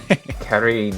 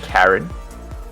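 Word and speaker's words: Karin: Kareen. Kareen. That's how you say it. It's not Karen.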